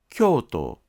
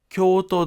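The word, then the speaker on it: 京都: 京都は音のピッチが下がります。しかし、京都大学でピッチが下がる部分は医学です。京都の音のピッチは下がりません。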